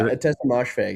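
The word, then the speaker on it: Ottessa Moshfegh: Yeah, Atesha Mosfeg, yeah.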